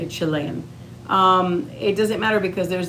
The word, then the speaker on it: Chilean: Even though, like, let's say you have Chile in you, Chile, you know what I mean, Chilenese, you're Chilean. Sorry, that's how you say it, Chilean.